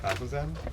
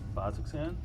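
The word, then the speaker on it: Bazzoxan: A place called Bazazan. Double check how that's spelled. It is BAZZAN. B-A-Z-Z-O-X-A-N. Say that one more time. B-A-Z-Z-O-X-A-N. Bazuxan?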